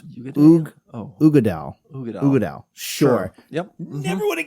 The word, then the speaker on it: Uigeadail: Oh, pronounce Uigeadail. Uigeadail.